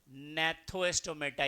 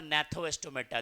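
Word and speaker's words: Gnathostomata: अनेथोस्टोमेटा, और ये हो जाएगा नैथोस्टोमेटा। यहाँ पे जी क्या है, साइलेंट है। अनैथोस्टोमेटा और नैथोस्टोमेटा दो डिवीजन में बटा हुआ है।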